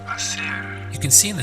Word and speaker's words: hacer: The verb to do is hacer. Hacer. You can see in the spelling we have an H, but in Spanish pronunciation the H is always silent, it's ignored.